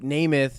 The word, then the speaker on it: Nemeth: just GNA say that right now oh so nameth he uh he took the E and made them A's so everybody would pronounce it correctly okay because Americans don't uh